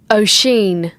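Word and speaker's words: Oisín: O'Sheen. O'Sheen. Oisin.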